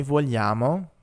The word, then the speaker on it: vogliamo: We have io voglio, tu vuoi, lui vuole, noi vogliamo, voi volete, loro vogliono. And here, remember, we're not actually pronouncing the G's. It's part of another kind of y sound.